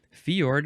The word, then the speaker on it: fjord: like well it's pronounced fiord will throw an eye in there I think in that part of the world the Jay's uh are kind of like an i sound maybe I don't know